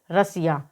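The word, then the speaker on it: Russia: ए आया है तो जब डबल एस के बाद में लिए आता है तो वहां पर डबल एस का उच्चारण श होता है तो आर यू एस एस आई ए को हम क्या पढ़ेंगे रसिया तो इस वीडियो में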